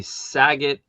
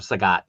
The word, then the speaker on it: Sagat: Um the saget or sagat, sorry. The sagat is um it's releasing now.